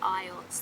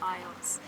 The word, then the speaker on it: eyots: and they're called aits, spelled A-I-T-S. And some of them are slightly bigger, and I think you pronounce it eyots. They're called eyots.